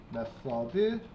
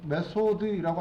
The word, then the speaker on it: 메서드: 메서드 저는 메서드라 쓸 건데 메소드라고 하기도 하고요. 그죠? 저 메서드라고 쓸게요. 메서드라고 하면은 막 그 연기할 때 메소드 연기 이런 느낌이라서 발음이 차라리 저는 이게 나은 것 같아요.